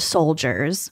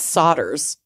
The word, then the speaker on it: solders: paint Plumbing pipes ceramics solders which I almost said soldiers I think it's solders you're right mhm solders they shouldn't pronounce it like that you're right they